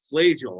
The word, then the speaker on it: Flajole: Flajole, I got it. So well, that's okay, Herbie. When I was in El Paso, they called me Flajole.